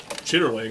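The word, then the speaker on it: chitterlings: yeah it is like if you buy a bucket of chitlins in the south it says chitterling i mean it's spelled properly like that i don't think i'd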